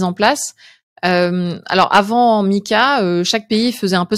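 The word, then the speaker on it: MiCA: définir qu'est-ce que c'est Mika alors c'est pas le prénom de quelqu'un ça s'écrit MCA mais est-ce que tu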